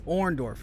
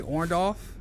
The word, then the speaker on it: Orendorff: on that's true but it's so it's orendorf okay so but a lot of people will either say orned off uh well even like